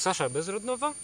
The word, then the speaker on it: Sasha Bezrodnova: Dzisiaj moim gościem w studiu jest Sasha Bezrodnova.